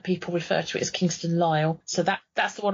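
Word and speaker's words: Kingston Lisle: where you are and I've heard two people I've heard somebody call this Kingston allele and somebody else call it Kingston Lyle I've always known it as Kingston Lyle yes I've never heard it referred to as Leo but I could see that you could do from its spelling it's l-i-s-l-e which yes you could pronounce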